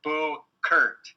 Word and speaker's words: Buchert: Also, Buchert is pronounced Boo Kurt.